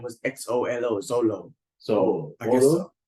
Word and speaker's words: Xolo: Oh, Holo, is it Zolo? Zolo, XOLO. XOLO, guys.